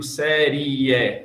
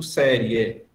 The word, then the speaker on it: série: Eu não faço, eu não separo as sílabas de série como sendo 3, senão como 2. Eu não digo série, eu digo série, uma só.